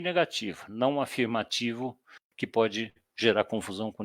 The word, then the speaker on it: afirmativo: com negativa muito grande porque a nossa pronúncia aqui é paroxítona então afirmativo negativo tá nós enfatizamos o final da palavra isso gera confusão então